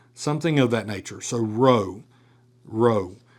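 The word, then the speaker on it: ρῶ: Your magiscule also looks like our capital P. But it does not sound like that. It this is row.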